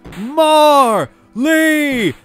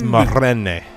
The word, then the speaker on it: Marlene: Marley! It's Marlene.